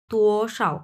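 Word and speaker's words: 多少: যে মাঝখানে যেটা তুটা এক নাম্বার টন তু এরকম হবে আর এখানে একবারে নিউট্রাল টোন কোন টন নাই সোশাও তু সাও এরকম হবে উচ্চারণটা ওকে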